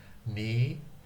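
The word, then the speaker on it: 日本語: Nihongo. So this is pronounced ni. Ni. Whoops, I didn't want to do that quite yet. Ni-hong-go.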